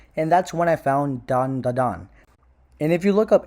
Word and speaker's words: Dan Da Dan: It's called Dan Da Dan. It's spelled Dan. And it pisses me off that motherfuckers cannot pronounce it. Motherfucker, sound it out. Jesus fucking Christ. Are you 7? Dan Da Dan.